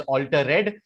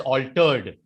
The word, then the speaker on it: altered: most of the times whenever the word ends with ed the letter that is after e which is d and the one before it they get joined so you do not pronounce the word as alter red you pronounce the word as altered you do not pronounce